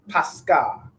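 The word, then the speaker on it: πάσχα: Read the pronunciation. It's pronounced what? Pascha, right? Pascha, right?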